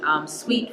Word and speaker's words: Suite: The first thing I will give you is the website, Suite Franchon, SUITE. It's spelled like a hotel suite, okay? But it sounds like candy.